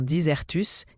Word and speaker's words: disert: Le mot disert vient du latin disertus, qui signifie éloquent ou habile dans la parole. Il désigne une personne qui parle avec aisance, clarté et souvent avec beaucoup d'élégance. Disert se prononce disert.